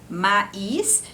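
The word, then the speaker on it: maïs: viu agora a pouco quando tem esse trema em cima do I aí no caso a palavra lá esse conjunto de vogais vai se pronunciar como aí mesmo por exemplo no caso da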